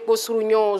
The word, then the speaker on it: Kossourignon: Alors, j'aimerais savoir, entre Boa, Désiré Martial et Gomé Kossourignon Josué... Ok. T'as bien prononcé.